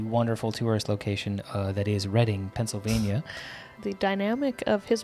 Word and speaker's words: Reading: Reading PA where we learned how to properly pronounce Reading Railroad on monopoly he's actually Reading Railroad and I feel like my entire life